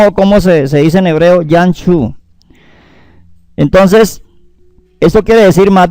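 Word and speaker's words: ים סוף: El nombre hebreo del mar rojo es Yan-Chu. Oiga bien. Y-A-M-S-Su-F. Yan-Chu. Que quiere decir mar de cañas. Escuche bien cómo se dice en hebreo Yan-Chu.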